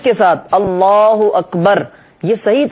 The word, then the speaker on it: اللہ اکبر: کی طرف ہوں، اور صحیح تلفظ کے ساتھ اللہ اکبر، یہ صحیح تلفظ ہے.